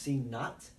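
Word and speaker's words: C₀: That's C with a little 0 next to it, pronounced C naught.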